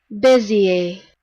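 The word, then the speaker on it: Bézier: how to pronounce bezier buzzier um here we go oh my earphones are off I'll turn this on for your benefit busier busier oh so it's French or something like that um so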